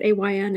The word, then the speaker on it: Ayn: after i'm rand and that is actually how you say it ayn is in rhymes with mine and i know that